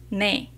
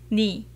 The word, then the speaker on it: 네: for you in Korean, which is 너 or 네. When you pronounce 네, 네 is correct according to standard pronunciation. It often sounds like 네, so they can be confusing. So people usually pronounce it just 니.